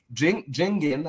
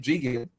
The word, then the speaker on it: Jigen: Jingen, how do you say his name? Jigen.